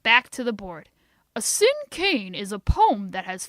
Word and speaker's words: cinquain: Gee, I'm sorry, May, but it's not tin can, he said. You must not have heard me correctly. This word is pronounced like the words sin and cane. Sin cane.